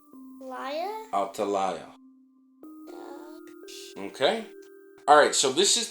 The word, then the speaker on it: Athaliah: I said Raya. Okay, well, say it right now. Raya. Who was the queen? I just forgot the words. La. It's an L. Laya? Athaliah.